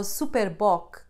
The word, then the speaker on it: Super Bock: and sage notice how super bok even though it's a brand written in english it is pronounced the portuguese way superbok i recommend you try